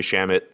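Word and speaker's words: Shamet: also from a landry shamit tweet in 2015 sham it rhymes with damn it right someone asked them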